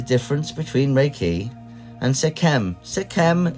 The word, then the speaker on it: Sekhem: Sekhem is often pronounced Sechim, doesn't really matter, it is the same